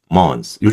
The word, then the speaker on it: month: TH하고 s가 만날 때도 마찬가지예요. 얘도 th가 우리 땡큐 할 때 think 그죠?이 하고이 s가 받다면요. 둘 다 발음하기가 힘들어요. 같이 연달아서 하기가. 그래서요. 어, 여기서 th 발음을 안 해 버립니다. 그래서 mon month mon요 정도. 그죠?